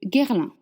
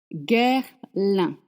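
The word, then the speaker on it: Guerlain: Nir wa sound la petite robe noire guerlin guerlin in French letters don't make the s it's not girl it's gu and the un a i in this case La petite robe noire de Guerlin perfume.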